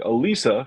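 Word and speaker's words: Élisa: this one is from altered innocence and it's pronounced excuse me Alisa from 1995 Vanessa Paradis from knif plus heart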